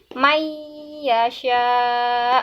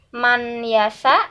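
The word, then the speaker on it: مَن يَشَاء: ya ini cara bacanya nun sukun ini tidak dibaca tetapi semuanya langsung dimasukkan ke dalam huruf ya ke dalam huruf setelahnya may yasha hai man yasa bukan bukan mang yasa juga bukan tapi maiyasyak seperti itu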